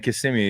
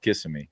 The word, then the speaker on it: Kissimmee: They're saying Kissimmee, even though for sure it's pronounced Kissimmee. It's crazy.